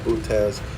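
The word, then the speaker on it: Boötes: I think we've discussed Butez. We discussed the double nature of Christ on page 21 and 22. So we must have left off on Butez. Bootes, pronounced Butez.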